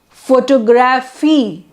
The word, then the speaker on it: photography: comes on photograph graph so the stress changes stress is not on 4 now it's photograph then photography and then photographic so in every word